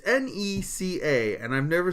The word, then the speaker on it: NECA: say this toy company it's not Nick is it Nika Nika I'm gonna say nook until someone corrects me all right it's NECA and I've never said